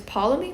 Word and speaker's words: Ptolemy: It's Ptolemy? Because it has a T. Ptolemy. There's no T there. T is silent then? Yeah, exactly. I'm Ptolemy?